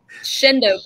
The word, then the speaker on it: Shenandoah: Just like Shendo, Pennsylvania is spelled Shenandoah. It's just...